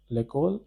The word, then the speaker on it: l'école: Pronunciation is l'école. This means school.